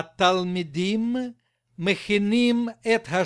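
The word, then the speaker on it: תלמידים: 1 и 2 им ударение на им на второе и в окончании им мы 1 и 2 им а talmidim мы махины эта h и r & b р.ф.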